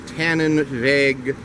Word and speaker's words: Tannenweg: Actually, it's the booth in front of the Tannenweg paid parking lot, which still has quite a bit of parking. And that's Tannenweg as in W-E-G. The W is pronounced as a V.